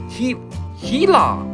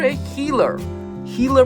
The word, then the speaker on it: Gila monster: it so Gila monster The Gila monster pronounced as he heila or a healer healer monster it's a lar